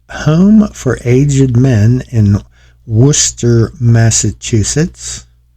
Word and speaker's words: Worcester: Here is Home for Aged Men in Worcester, Massachusetts. I believe that's how it's said, not Worcester, it's Worcester.